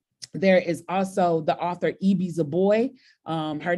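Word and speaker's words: Ibi Zoboi: um in it there is also the author eie z boy um her name is spelled IB i z o bo oi and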